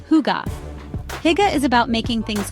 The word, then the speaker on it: hygge: One thing that makes Danes special is hygge, pronounced hygge.